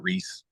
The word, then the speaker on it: Ruiz: pronouncing my name like my family all has grown up saying it Reese like Reese's Pieces and that's how my